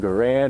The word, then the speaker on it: Garand: This is the M1 Garand, or Garand, however it is you want to pronounce it.